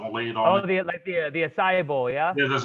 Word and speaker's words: acai: probably going to say it wrong, but there's AK bowls. Okay. Those AK bowls that have like it's like protein. It's like almost like protein. It's got all the fruits and stuff laid on Oh, it. the acai bowl, yeah.